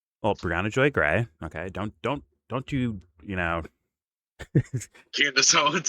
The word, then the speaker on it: Briahna Joy Gray: Well, my question was going to be how far to the left is Briahna Greyjoy? Well, Briahna Joy Gray.